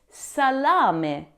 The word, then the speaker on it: salame: Now, regarding pronunciation, the a in the first syllable is a clear open a sound. s not sir and the final e is never silent as we saw earlier with gratia. It's a crisp me sound.